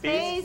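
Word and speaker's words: Fe's: Do you say Fee or Faze? Faze. Cake. Faze. But it's spelled F-E apostrophe S when you look it up online, right?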